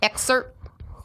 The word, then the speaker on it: excerpt: Remember that time I said excerpt on this, and they were like, "What?" And Mal was like, "It's Excerpt?